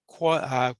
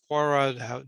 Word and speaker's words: Quora: Method number 4, Quora or Quora, depending on how you pronounce that.